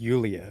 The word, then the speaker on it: Yulia: No, it's pronounced Yulia, actually.